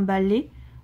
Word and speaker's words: balai: Attention, beaucoup de gens se trompent. On a souvent tendance à dire un balai. Moi, c'est ce que je dis souvent, mais en fait, il faut bien le prononcer « est ».